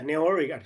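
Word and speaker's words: Newari: really really historic uh villages with uh now nari architecture did I pronounce that correctly yeah nari yes yeah yeah I I haven't been to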